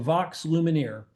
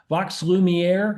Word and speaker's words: Vox Lumiere: silent film experience called Vox Lumineer, and they currently have 9 original productions that have been touring internationally for over 20 years. Vox Lumiere, I mispronounced that a moment ago, sorry, has been featured in